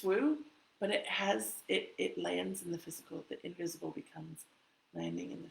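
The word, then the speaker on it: Wu: And I know it's not pronounced like that. If you pronounce it in traditional Chinese, it's woo, but it's W-U.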